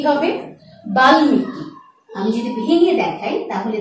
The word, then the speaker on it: বাল্মীকি: যেমন ল, গ, ন, ট, ঙ ইত্যাদি বর্ণের সাথে মফলার ব্যবহার হলে মফলার উচ্চারণ হয়ে থাকে। যেমন আমি শব্দটি লিখে দেখাচ্ছি। উচ্চারণটি কি হবে? বাল্মীকি।